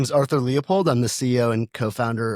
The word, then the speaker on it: Leupold: My name is Arthur Leopold.